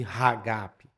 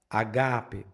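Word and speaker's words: ἀγάπη: Você não vai pronunciar ali ragape, você fala agape, mas nota que agora o acento já não está em cima do primeiro alfa, ele está em cima do segundo alfa.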